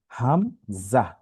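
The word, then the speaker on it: همزة: সেটি হচ্ছে হামজা। আচ্ছা, এই হরফের কোনো টান হয় না স্বাভাবিকভাবে, হামজা। তো হা আর হামজা, এই দুইটা হরফ কিন্তু এক জায়গা থেকেই উচ্চারণ হয়, আলাদা কোনো এটার মধ্যে কোনো জটিলতা নেই। ঠিক আছে, হা, হাম, জা।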